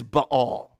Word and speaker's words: Baal: One of the reasons why he's done more evil is that he has instituted worship of Baal or the correct pronunciation is Ba'al, right?